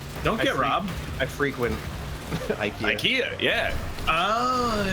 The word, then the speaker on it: IKEA: I frequent IKEA. IKEA, yeah. Oh, It's pronounced Akida.